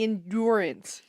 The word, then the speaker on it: endurance: Why are you saying endurance? Because I really like to put the emphasis on the right syllables.